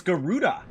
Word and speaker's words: Garuda: It's spelled Gajinka. Gajinka. Ashen Atlas. Um, it's Garuda.